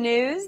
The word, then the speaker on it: Gnooze: Hello and welcome to the Gnooze. The G is silent.